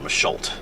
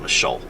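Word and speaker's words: Machault: Fort Michal is and Michal has a t on the end but you don't pronounce it according to what I saw it's not Fort Michal just Fort Michel or something similar to that all right but yeah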